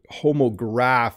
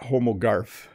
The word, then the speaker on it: homograph: fadil what is homo homograph is what you want not homogarf so homograph is what